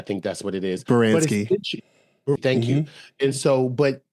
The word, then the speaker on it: Baranski: So you have Viola Davis, Gina Torres, and Christine, I'm gonna get her name wrong, Baranski, I think that's what it is. Baranski.